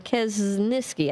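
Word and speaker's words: Kaczynski: Kasn Kas Kasniski uh Quesniski I think is how you say it.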